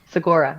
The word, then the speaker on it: Segura: Well, maybe he will be lucky enough to get on Netflix like Tom Segura. Did I say that right? Segura.